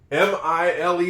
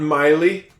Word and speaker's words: mile: M I L E. That's not Miley. It's not Miley. It's a mile. Silent E.